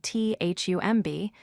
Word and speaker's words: thumb: The word thumb is spelled T-H-U-M-B, but we pronounce it as thumb. No B sound.